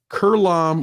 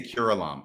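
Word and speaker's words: curelom: I say curlom. I give it 3 syllables. That was a curlom, the genitals of a curlom.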